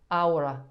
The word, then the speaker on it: ahora: Ahora. So No. you don't really say it. You just go from the A, skip the H to the O.